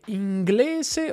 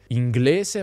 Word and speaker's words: inglese: Guarda che la pronuncia neutra tradizionale fa delle distinzioni. S in alcune parole e S in altre. Inglese ma francese, cosa ma rosa.